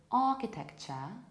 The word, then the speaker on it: architecture: The correct pronunciation of this word is architecture in British English and architecture or even architecture in American English. So it might be ch, architecture, or it might be sh, like architecture. But what is the most important here is to realize what constitutes a problem. And here this is k sound.